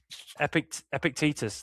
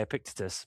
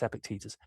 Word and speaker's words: Epictetus: Epictetus, that's how you say it. I got corrected by Andy Hart once. I used to say Epictetus, but it's Epictetus.